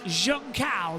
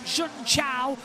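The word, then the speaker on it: Junção: 1 for a long time and it is junal that is how you pronounce it as well not juncha or Jun it is Juna as in Jun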